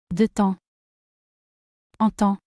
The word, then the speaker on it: de temps en temps: De temps. En temps. You make the liaison and you say. De temps en temps.